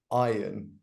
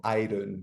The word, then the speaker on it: iron: to pronounce the word iron uh because they would say iron or iron with an R so the r is quite silent in that so we just say iron so the expression is